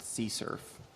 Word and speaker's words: CSRF: of attack is uh csrf which is actually pronounced sea surf actually i only learned that recently this is